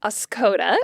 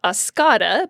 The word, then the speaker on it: Oscoda: Also, we've got Oscoda, which you might want to pronounce Oscada, but you should not do that if you want any Michiganders to take you seriously.